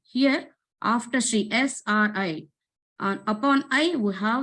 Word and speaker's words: Sri: pronunciation of that letter so SRI not Shri if I is there then we can pronounce like e if there is a sleeping line on the letter I then it will be pronounced like SRI so om Shri Para